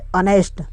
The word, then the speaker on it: honest: और एक आता है ऑनेस्ट, HONEST, ऑनेस्ट आया है तो ओ से पहले एच आया है, ये भी साइलेंट हो गया, यानी कि इसे ऑनेस्ट पढ़ा जाएगा।